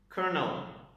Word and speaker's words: colonel: So it's colonel, colonel, colonel, colonel. There is a light R sound in this word. It doesn't look like it has an R sound actually, which is interesting.